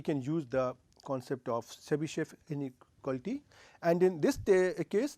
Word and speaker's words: Chebyshev: So, this is Chebyshev, right.